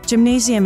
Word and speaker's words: Gymnasium: In the German language, gymnasium is said with a hard G-G-A, rather than a soft G-J-A as in English.